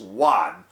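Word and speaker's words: Yuan: Emperor Emperor Juan it's y-u-a-n is pronounced one of China China's Han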